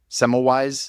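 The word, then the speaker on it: Semmelweis: it it's uh ignaz seice SEMO wise is how we would probably say it here in America I've not he was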